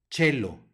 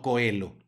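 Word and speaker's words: caelo: u tú luego tenemos un diptongo o E que va a sonar e y la letra c que antecede al diptongo y que va a sonar como Che Chelo no Coelho siguiente palabra un q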